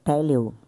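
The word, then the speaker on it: τελέω: Pera aí, a pronúncia grega teleo.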